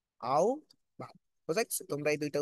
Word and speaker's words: আহ্বান: আহ্বান করি, কিন্তু আহ্বান না, এটার উচ্চারণ কি? আও ভাব।